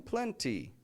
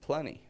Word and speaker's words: plenty: I'm not saying plenty. I could eat plenty.